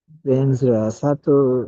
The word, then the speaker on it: sattva: Now here's the way it's pronounced in Tibetan. Om, and how it's written. So there's Om, and then Sato Samaya, Venzra, Venzra, Venzra, Venzra, Sato Samaya.